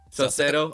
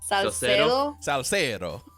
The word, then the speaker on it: Salcedo: But if you guys follow Denise Salcedo, is that how you say it, Jacky? Salcedo. Whoa, you said YouTube. It with Spanish flair there. Say that again. Yeah. Salcedo.